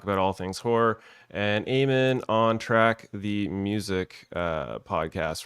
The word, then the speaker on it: Eamon: Remember, it's Eamon, not Eamon, as Jason likes to pronounce it over at Hey Did You See This One, which I don't have a banner for.